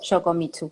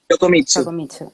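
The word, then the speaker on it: 横光: Eh, y bueno, volviendo a a Yok Yokomitsu o Yokomitsichu, ¿cómo se dice? Yokomitsu. No, como si fuese una i.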